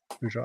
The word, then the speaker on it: Peugeot: Peugeot.